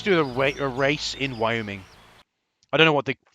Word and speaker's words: Wyoming: the info about Wyoming Wyoming how do you pronounce that Wyoming we oming it isn't my oming it's weing thank you okay so oh oh